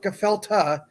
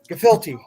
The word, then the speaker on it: gefilte: mark somebody help me it's not kefalter gefilte how do you pronounce